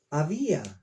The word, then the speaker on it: Abía: Y Roboam fue padre, engendró a Abías. En español es Abías con S, pero en hebreo no aparece la S. Dice Abía, acento en la A.